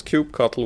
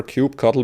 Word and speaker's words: kubectl: instance in this case how do you pronounce cube cuttle well there's lots of different pronunciations there's certainly no canonical way to pronounce it personally i prefer cube cuddle but you may have